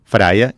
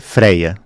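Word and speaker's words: Freyja: seria a divindade máxima praia que praia é pronuncia alemã na Escandinávia vão dizer freya e ela também tem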